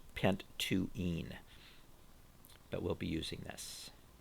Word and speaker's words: pent-2-ene: So this would be pronounced pent-2-ene, but we'll be using this.